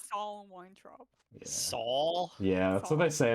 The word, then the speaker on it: Saul Weintraub: How else would you pronounce that? It's SOL. Soul. It's Saul. I heard stole. We have the Sorry. audiobook. It's definitely Soul. It's Saul Weintraub.